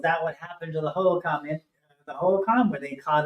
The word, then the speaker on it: Hohokam: Well, that could be another way to look at, if you see this thing grabbing, is it pronounced Hohokam? Hohokam, yeah.